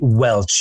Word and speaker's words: Welch: And I have with me an up-and-coming filmmaker, Welch. Am I pronouncing that last name correctly? You are, just like the grape juice.